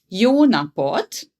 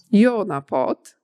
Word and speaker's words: jó napot: Jó napot. Jó napot.